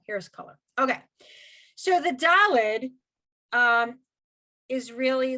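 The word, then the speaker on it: דלת: new letter it's called dalid d-a-l-e-d okay dalid and it makes it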